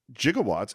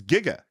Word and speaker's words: gigawatts: apparently zamus and Gail interviewed a scientist who pronounced it jigawatts and they wrote it in a script with the J oh that's so fun and they always pronounce it that way until later on everyone's like that's it's Giga Giga is you know like gigabits gig Giga is the actual word g g I bet